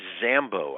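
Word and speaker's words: Dzambo: So this one is by Amy Zambo. I think that's the pronunciation, but her last name is spelled D-Z-A-M-B-O.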